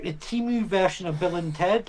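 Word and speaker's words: Temu: If Timu, is that how you say it? Because there's a big thing about how you actually say that, isn't it? Is it Timu, isn't it? Timu, yeah. Yeah.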